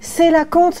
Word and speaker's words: coelacanthe: Tu sais que ça se prononce colacanthe?